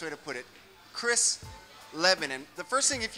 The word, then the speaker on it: Chris Leben: Because Mike says Leben, I say Leben. Well, German, it's a German name, would be Leben. Leben. So you're both wrong. We're both wrong. Me growing up in South, my family pronounces it Leben, which I think is just like the chopped up, white trash way of pronouncing the name. So it's sort of the Leben, Las Vegas type of pronunciation.